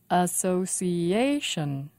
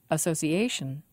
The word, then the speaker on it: association: stress is on lang association association five syllables and the stress is on a department department three syllables